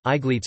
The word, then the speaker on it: Aegletes: Aegletes, Gletes, Aegletes, Aegletes, from Aegle, light of the sun.